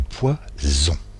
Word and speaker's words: poison: Même façon, du poisson et du poison. En résumé, la lettre S entre 2 voyelles se prononce ZE. S'il n'y a pas de voyelle, ça se prononce SE.